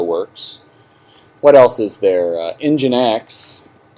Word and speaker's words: nginx: what else is there engine x nginx pronounced nginx is another one that's very